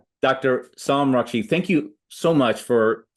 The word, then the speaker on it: Soum Rakshit: Sam Rashid, am I pronouncing I think some I thought I was No, no, you're perfect. Yeah, perfect. Yeah. Dr. Sam Rashid, thank you so much for coming on and